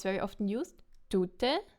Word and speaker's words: tute: So what happens here is tute, the person, is stressed on the first syllable. Tute, tute. And the second one, woman, is stressed on the second syllable.